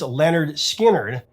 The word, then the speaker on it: Lynyrd Skynyrd: While the band was rehearsing with new material for their debut LP pronounced Lynyrd Skynyrd, Alan began playing his rough music track for the other members to hear.